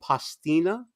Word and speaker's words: pastina: a star very little tiny star-shaped pasta you're mispronouncing it it's actually called pastina it it's it's very good when you're sick